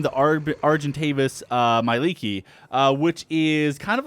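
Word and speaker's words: Mielikki: to do this so the way you spell this is m i e let's see l i k k i and it's pronounced Miki uh so we have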